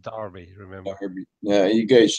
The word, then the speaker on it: Derby: It's spelled Derby, but it's pronounced Derby.